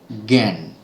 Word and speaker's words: জ্ঞান: ইয় এ রয়েছে কিন্তু আমরা উচ্চারণ করছি কিভাবে উচ্চারণ করছি জ্ঞান গ এ চন্দ্রবিন্দু তারপরে জ ফালা আকার দন্তন্য